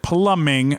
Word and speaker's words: plumbing: Haunted plumbing. Oh, you spelled plumbing wrong. That's why. Plumbing has a B in it. There's a silent B instead of two M's.